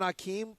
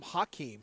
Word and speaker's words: Hakeem: Remember when Akeem didn't used to have an H? Right. Then all of a sudden he came up with an H. And it was still He's Akeem.